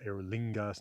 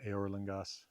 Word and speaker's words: Eorlingas: Theoden says Eorlingas, not Eorlingas, right?